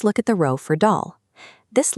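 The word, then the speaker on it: دال: For dal, keep the vowel sound flat and light at the front of your mouth, so it rhymes exactly with the English word pal. Do not say doll.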